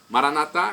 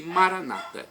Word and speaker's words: Maranata: Maranata vinde Senhor Jesus Maranata com a tônica na última sílaba como dizemos nós católicos os evangélicos ou protestantes nossos irmãos separados dizem Maranata com a tônica na penúltima sílaba o significado é o